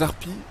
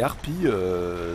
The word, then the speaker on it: harpies: Ils sont plutôt bien protégés dans le sens où les harpies, c'est comme les haricots. On ne prononce pas le S. Hein, les harpies sont, comment dire, ne veulent pas ramasser de pièges.